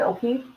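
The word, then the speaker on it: O'Keefe: will how do you say his last name o'keef right yes John o'keef yes so people know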